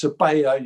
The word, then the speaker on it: Sabella: that player was alex sabella briefly people told us oh no it's sebaya you've got to pronounce it surveyor we went back to savella it didn't matter because